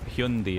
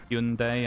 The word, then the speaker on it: Hyundai: And they were saying you've been pronouncing it wrong all along when in their ads for about the last decade they call it high and die.